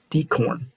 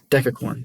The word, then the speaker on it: decacorn: ripple a us fintech decorn okay decacorn sorry I pronounced that wrong as a result of